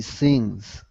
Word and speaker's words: scenes: a couple of times this one is scenes with a long e the scenes yes well done that's